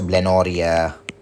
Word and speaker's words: blenorrhea: Or we could write also blenorrhea. All right. Blenorrhea. Blenorrhea rhymes to what? It rhymes to gonorrhea.